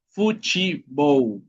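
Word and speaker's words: futebol: Y fútbol sería fuchibow. Okay. Fuchibow.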